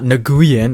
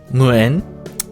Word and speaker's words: Nguyễn: Không phải đọc là Nagooyen hay Newgen hay chicken McNuggets cái đó ai cũng biết mà cũng hổng có đọc là "when" theo như một số người đã đơn giản hóa nó lại. "Nói when coi!" Thật ra thì phải đọc là Nguyễn.